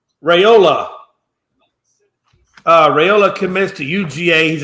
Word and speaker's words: Raiola: His last name is spelled Raiola. Yeah, Dylan Rayola from Pinnacle High School in yeah.